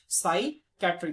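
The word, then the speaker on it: psychiatry: साइकेट्री P silent हो जाएगा।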